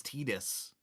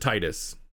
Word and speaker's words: Tidus: I didn't realize this was the first game that pronounced it as Tidus. It is, yeah. But in Kingdom Hearts 2, they pronounce it Titus.